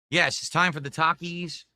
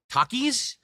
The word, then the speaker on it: Takis: Takis menu from Wendy's.